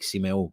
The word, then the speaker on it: Symeou: I know that's how it's pronounced, and that's how I say it in Greek, Symeou, but this is the anglicized version, right?